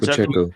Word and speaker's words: Pacheco: Pacheco. Don't get his name wrong.